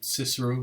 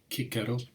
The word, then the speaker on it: Cicero: I'm going to do 10 minutes on Cicero or Cicero, depending on your pronunciation.